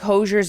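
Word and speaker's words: Hozier: Emma, I think you put such moments to it, to like Hosier's yell when you have him like hold the camera.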